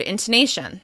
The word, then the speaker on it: intonation: Google for the word "intonation." However, I started noticing that other accent and language coaches say the word intonation with a long "o" on the second syllable.